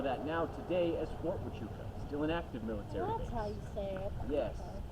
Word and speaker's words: Huachuca: See, if you're familiar with the area at all, you would know that now today as Fort Huachuca, still an active military base.